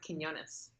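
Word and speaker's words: Quiñones: say your last name it's pronounced Quinones Quinones okay and I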